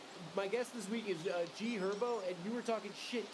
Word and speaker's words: G Herbo: It's also G Herbo. The H is silent, bro. What? The H is silent. It's G Herbo.